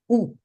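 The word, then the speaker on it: où: That's another completely one, but the pronunciation is the same. Ooh, okay?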